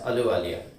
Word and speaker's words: Ahluwalia: Ahluwalia, here the spelling is Ahluwalia, but H is silent. So we have to pronounce it as Ahluwalia.